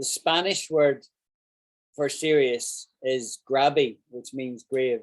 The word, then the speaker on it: grave: word for sirius is grabby which means grave right it's spelt like grave but they pronounced grabby um right serious demanding